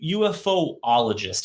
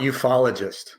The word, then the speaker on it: ufologist: So I know that you are a UFOologist. Is that correct? How about ufologist? Ufologist. Yeah, see, it's a lot easier to pronounce that way.